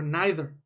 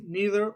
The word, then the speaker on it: neither: be neither okay or neither can pronounce it both ways neither or neither okay this is the